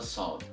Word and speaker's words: ص: of the tongue should be raised or elevated, and that gives you the sound of the letter Sod.